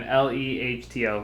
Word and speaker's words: Lehto: It's Marcus and then Lehto. Liato.